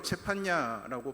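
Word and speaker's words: צפניה: 히브리어로 체판냐라고 발음을 하는데 여호와께서 숨기신다, 여호와께서 보호하신다라는 뜻을 가지고 있는 이름입니다.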